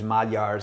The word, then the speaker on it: Magyar: Magyars, the Hungarians actually call themselves Magyars, which is Magyar. It looks like Magyar, but the G and the Y is pronounced like a D sound, Magyar.